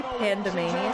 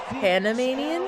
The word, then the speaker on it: Panamanian: like his facial features did you say pandanan that's how you pronounce it Panamanian oh Panamanian what about panda amanian that was adorable pandem Manan I always thought it's pandanan it's like pandemonium all right we got